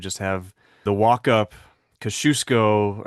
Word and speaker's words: Kosciuszko: have the walk up Kosciuszko, I think is how it's pronounced in Australia, and then he would have the seven summits.